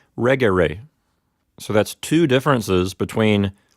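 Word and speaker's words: regere: rig a ray but since the e here is short according to the rules of Latin accent that's going to move the accent one syllable back so in the word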